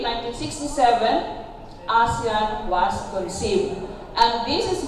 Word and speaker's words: ASEAN: The chairmanship of the Philippines in this year's ASEAN. No? So, primero nga, gitudlo sa ako ang pag-pronounce. Dili ko na ASEAN, kundi ASEAN.